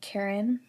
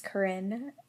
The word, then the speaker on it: Karin: things including my name people would often call me Karen when the correct pronunciation is Karin cuz I was named after a German cooworker of my parents for white people to